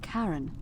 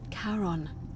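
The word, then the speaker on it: Charon: it's just as you described it only your pronunciation is a little off the name you heard wasn't Karen it was c h a r o n as in karon the Fairman of the dead car on who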